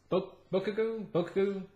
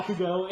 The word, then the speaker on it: Bakugo: He has a friend that is Bokugo? Well, I don't know how you say it. I'm sorry. Bakugo.